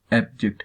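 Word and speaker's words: abject: इसका प्रोनाउंसिएशन जो है वो आप यहाँ पे ऐसे करेंगे। एब यहाँ पे आपकी हाई पिच होगी और यहाँ पे जेक्ट पे आपकी लो पिच होगी। एब्जेक्ट ना कि एब्जेक्ट, ठीक है।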